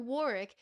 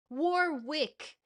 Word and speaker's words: Warwick: There's no Warick. It's Warwick. You pronounce both W's.